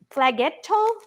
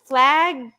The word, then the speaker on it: flageolet: And this is, why don't you try to pronounce that one? What are these green, unusual? They are green, unusual beans. It's flaggetto, flageolet.